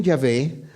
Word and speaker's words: Yahvé: yh vh pero eh lo voy a pronunciar yah porque parece que ese es el el la pronunciación más acercada a la realidad entonces dice el Elohim yahvé ha hablado y convocado